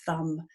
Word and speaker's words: thumb: Doesn't really represent anything else except that sound in words, unless, of course, it's being that silent letter at the end of words like crumb and thumb and so on.